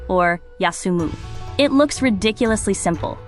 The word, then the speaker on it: 休: The kanji for rest, pronounced kyu or yasumu.